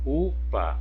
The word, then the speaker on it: upa: Então, em upa, a sílaba tônica é o U.